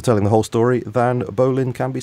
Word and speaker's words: Bolin: I think Bolin is how he pronounces it.